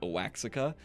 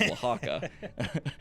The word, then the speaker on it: Oaxaca: And then you've got Oaxaca's Mexican cuisine, and I know a lot of you are going to pronounce it Oaxaca. You're wrong. It's Oaxaca, and it's Tex-Mex.